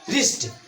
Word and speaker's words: wrist: यहाँ पर क्या होगा, W चुप रहेगा, साइलेंट रहेगा, और इसका उच्चारण अगले अक्षर से करेंगे R से।